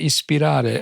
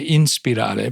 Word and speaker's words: ispirare: You actually say ispirare. I always want to say inspirare, but it's actually ispirare.